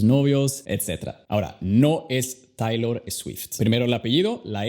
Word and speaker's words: Taylor Swift: Taylor, Taylor, Taylor Swift.